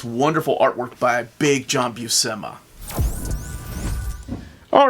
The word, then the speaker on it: Buscema: Okay, we're going to look at this wonderful artwork by Big John Buscema. All right, ladies, we are looking at both covers. Lydia, who did the direct market cover? John Buscema. John Buscema. Buscema.